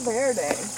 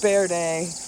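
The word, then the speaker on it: verde: main ingredients in salsa ver day actually pronounced be day but um angli sizing it a little uh here is a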